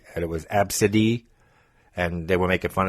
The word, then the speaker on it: Absidy: I forget how you even pronounced it. Absidy. No, it was A, B, C, D, E. And it was Absidy.